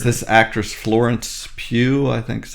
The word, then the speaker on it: Florence Pugh: It's this actress Florence Pugh, I think is how you say her name.